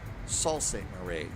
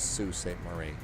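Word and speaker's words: Sault Ste. Marie: Saul St. Marie or Sue St. Marie. I was doing it different. I was saying it's Saul. I think it's Sue St. Marie. So, I was saying it wrong.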